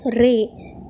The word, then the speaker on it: ر: அடுத்தது ரே இது வந்து பத்தாவது எழுத்து இதற்கு வந்து மேலேயும் கீழேயும் புள்ளிகள் கிடையாது. இதடைய உச்சரிப்பு எப்படின்னா ரா வைப்ரேட் ஆகுற மாதிரி உச்சரிக்கணும் ரா மொத்தமா சொல்லணும் ரா ஜே இது வந்து 11